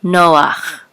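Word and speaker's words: נח: noon with a column so you will say no and this is ah Noah Noah um of course there's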